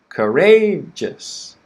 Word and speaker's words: courageous: just quick just so courageous courageous courageous repeat after me first word courage second word courageous okay so word stress very important it changes the pronunciation a lot as you can see